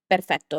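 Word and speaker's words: perfetto: So o O instead of doing O, do O just keep your tongue higher and close your mouth a little bit. So this is the correct way to pronounce this is perfecto.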